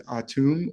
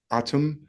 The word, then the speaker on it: Atum: know for sure so I'll just say atum but it sounds like Adam some people say aha